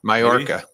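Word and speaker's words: Mallorca: chill out but wow Mal for now I'm saying it wrong again I know mayorca mayorca um we have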